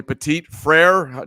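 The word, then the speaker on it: Petit-Frere: And then there's a Tennessee Titan offensive tackle, Nicholas, can you pronounce this for me? Petit Frere?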